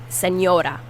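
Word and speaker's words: señora: seniora a mature woman senora senior and that n is pronounced like an n and an i if you put an n and an i next to each other that's how you pronounce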